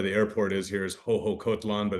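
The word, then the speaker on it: Xoxocotlán: There's also, where the airport is here is Hohokotlan, but it's spelled Shosho or Shoksho, XOXO. So the X's in some of the X's here are pronounced with H's, and in Oaxaca, it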